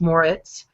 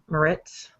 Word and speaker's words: Moritz: Sometimes my name gets pronounced wrong, but it's Moritz, not Moritz.